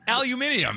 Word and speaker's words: aluminium: tin foil tin foil aluminum aluminium as the English say the Reynolds WP the